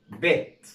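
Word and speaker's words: bit: طيب لو احنا هنا شلنا الاي، مفيش اي في الكلمه ديت، يبقى هنطق الاي كانه حرف الاي كانها كسره، زي اقول بيت، يبقى نطقها ايه؟ بيت.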